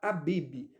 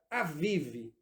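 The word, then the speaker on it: אביב: Aqui na minha Bíblia a tradução está Abib. A palavra hebraica, na verdade, se pronuncia Aviv.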